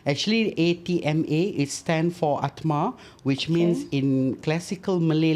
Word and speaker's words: Atma: Actually, ATMA, it stands for Atma, which means in classical Malay language, it is soul. Soul. Yeah, Okay. the meaning is soul actually. The ATMA.